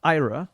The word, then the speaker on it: Aira: is our website can you spell that yes sorry it's a i r a so that's how you say IRA and people do get